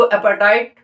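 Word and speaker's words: apartheid: उस टाइम पे अफ्रीका में अपार्थाइड, उसको अपार्थाइड प्रोनाउंस करना है, बट स्पेलिंग के अकॉर्डिंग आप उसको अपार्थाइड, अपार्थीड ऐसे टाइप के वर्ड्स भी समझ सकते हैं, बट ये वर्ड आप चेंज नहीं कर सकते।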